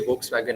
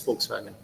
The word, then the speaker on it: Volkswagen: So they were continuously telling it is not we say Volkswagen nahi, it's Volkswagen.